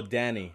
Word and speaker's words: Dani: you buy the boys your name this how you pronounce it Oh Dani all right perfectly done it's